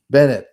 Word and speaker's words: Bennett: Katherine Katherine yeah what's her name Basset or something Bennett Bennett Sorry, Katherine. I did your name wrong.